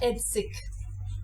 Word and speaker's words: Heidsieck: easy for English speakers next we have edik the champagne horse is named after one hair hiek who was born in best falia which is a German region so again we are